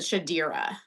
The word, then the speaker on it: Shadira: Shadra? Shadra? So, H.M. Wolf posted on her story that you pronounce it Shadira.